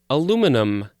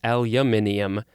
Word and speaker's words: aluminium: oxide next we have what i would say is aluminum but it actually in the pronunciation guide has the british version which is aluminium i always thought they said aluminium but it actually is aluminium yes this is a